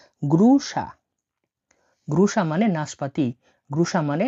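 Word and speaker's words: груша: সেটি হচ্ছে, নাশপাতিকে বলা হয় গ্রুসা, গ্রুসা মানে হলো নাশপাতি, গ্রুসা, GRU। এই ওয়ার্ডটা উচ্চারণ হয় SH বা তালিবস্য আকারে। ঠিক আছে, তাহলে SH এ সা, গ্রুসা, গ্রুসা মানে নাশপাতি, গ্রুসা মানে নাশপাতি।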